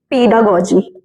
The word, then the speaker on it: pedagogy: पीडागोजी और पेडागोजी, दोनों प्रोनाउंसिएशन सही है, एस का डिफरेंस है बस, और कुछ नहीं।